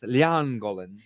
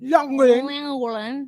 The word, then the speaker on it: Llangollen: Llangollen. I Young can... Glen. How do you say it? Llangollen. Langolin.